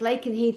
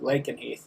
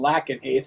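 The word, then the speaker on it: Lakenheath: It's called Lake and Heath. And they wanted us to know where that craft came from. So, I I love that it's on that list. and RAF Lake and Heath also services USA and UK personnel military.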